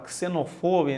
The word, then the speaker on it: xenofobia: grande, reflexione sobre a xenofobia na Europa. Toda vez que a palavra termina com fobia, é sempre o fo, a sílaba tônica. Xenofobia, aracnofobia, claustrofobia, a homofobia também.